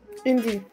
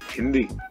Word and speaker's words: Hindi: name of my language can you say hindi india not indi hindi huh oh i don't